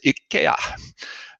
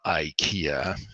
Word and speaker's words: IKEA: from from from from what we pronounce correctly as Ika and not Ikea so um you know